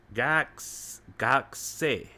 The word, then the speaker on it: 学生: 学生 Gakse. Gak, 学生 gakse. Gak, gakse. So the U is not emphasized in this syllable. Gakse. 学生 Gak. It's almost like it's a half a sound.